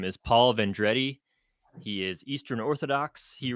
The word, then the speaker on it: Vendredi: It's actually pronounced Vendredi. So Vendredi, okay. it looks Italian, but it's actually French.